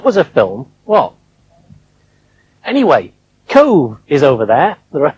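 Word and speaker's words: Cobh: a film well anyway cove is over there there are three islands in corks harbour that's the great island with cove on it it's spelt c-o-b-h but it's pronounced cove in 1848 the great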